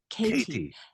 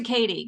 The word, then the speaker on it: Katie: If someone asks me my name, I have to say Katie, and I have to say the T, Katie. Oh, really? Yeah, as opposed to Katie, because they don't get it.